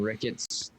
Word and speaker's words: Ricketts: I was just going to say, does his last name end in Ricketts? Rhymes with crickets.